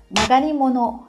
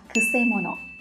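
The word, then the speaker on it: 曲者: Và có thể là chúng ta sẽ bị nhầm là magari mono. Thế nhưng mà không phải, nó sẽ được đọc với cách đọc rất là đặc biệt là kuse mono.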